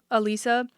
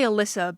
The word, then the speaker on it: Elisa: I don't really know Elisa. I want to say Alyssa, but I think she said her name is pronounced Elisa Liu.